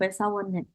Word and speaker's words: 회사원은: n, karena konsonan ya, maka kita pronunciation-nya nen, teman-teman. Jadi bukan 회사원 아니에요, tetap 회사원은.